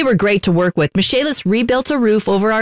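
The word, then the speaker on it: Michaelis: Spelled M-I-C-H-A-E-L-I-S, pronounced Michalis.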